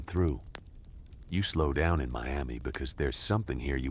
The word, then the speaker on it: Miami: Mantle grew up, then Miami, which is pronounced Miami here, not like the city in Florida.